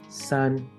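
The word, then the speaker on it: 山: shape of a mountain in chinese-based pronunciation it's actually red as Sun here's another what does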